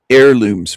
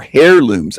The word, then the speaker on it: heirlooms: It's heirlooms. That's the way we pronounce it here. Not hair looms.